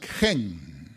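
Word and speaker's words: חֵן: Tratando de pronunciar sería gen, que significa favor, gracia, misericordia, y por eso la utilizan acá.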